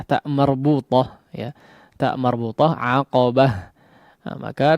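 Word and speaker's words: عقبة: Nah, maka ta marbutah ketika kondisinya diwaqafkan ya, menjadi huruf terakhir pada kondisi waqaf, maka dia berubah menjadi ha ya. Seperti ya, atau pengucapannya menjadi ha ya, ha yang besar.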